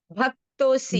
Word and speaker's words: भक्तोऽसि: स एवायं मया ते अद्य योगः प्रोक्तः पुरातन भक्तो असि मे सखा चेति असी नहीं है रहस्य बेटा, भक्तोसी।